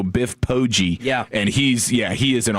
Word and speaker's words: Biff Poggi: Yeah, I think it's I think it's a hard G. I think they go Biff Poggi.